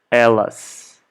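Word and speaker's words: elas: talking about only women we say LS okay the same way we say Ella in the singular just with an additional letter S okay Ellis Ellis if we're talking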